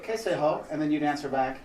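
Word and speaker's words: कैसे हो: So the way you say how are you is kaise ho. Kaise ho. Kaise ho. So fast, it's kaise ho. Yeah. Okay, Kaise ho. And so I'd say kaise ho, and then you'd answer back.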